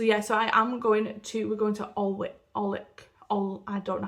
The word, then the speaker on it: Alnwick: I think you don't pronounce the L or the W, it's like Alnwick.